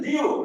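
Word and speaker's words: 六: 중국 자인 자인 이게 중국어 중국어 발음으로 빠서 발음이 비슷하다는 좋아하고 6은 숫자 6을 중국어 하면 리우 그러는데 이제 뭔가 물이 흘러간다 했을 때도 레오라고 말해요.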